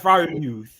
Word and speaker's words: Freiermuth: Pat Freiermuth.